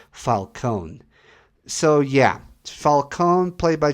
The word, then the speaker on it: Falcone: It's actually pronounced Falcone.